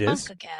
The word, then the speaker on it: CONCACAF: So the CONCACAF, I believe that's how you say it. It CONCACAF, is.